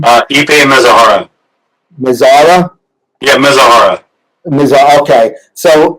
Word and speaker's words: Mizuhara: How do you pronounce Ippei's last name? Ippei Mizuhara.